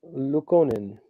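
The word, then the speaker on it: Luukkonen: Pekka AKO Pekka Luca luconen I said it right don't question me uh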